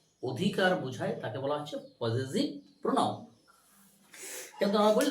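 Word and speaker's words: possessive: 2 নম্বর হচ্ছে পজেসিভ, উচ্চারণটা কি করবি, পজেসিভ, নট পসেসিভ, ইটস আ পজেসিভ।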